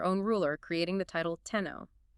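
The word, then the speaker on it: 天皇: But domestically they read those characters as okimi or summakoto and eventually formalized the pronunciation is tenno.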